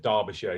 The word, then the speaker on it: Derbyshire: can two dog it's Derbyshire that's how you pronounce it Derbyshire my UK accent to Derbyshire which is I